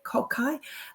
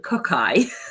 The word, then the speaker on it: Kokai: um incorporate into copy kukai I always say it wrong I'm like kukai cockai because I'm a kid from the 90s um kokai um it basically